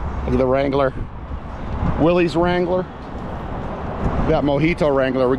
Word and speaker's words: Willys: I call I pronounce it Willys and I've heard people call it Willis. I know there's a big argument over the internet about it. I don't care. I call it Willys.